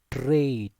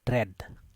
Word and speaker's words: trade: traveling, and this is trade, trade, trade. So while you sounding sorry, one second, this traid, like this you need to sound, trade, not tread. Okay, not tread, this is incorrect.